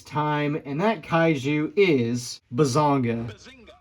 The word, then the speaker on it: Bazanga: And that kaiju is Bazonga. Yes, that's actually how it's said. Yeah, this is the Ultra Man Bazonga Kaiju.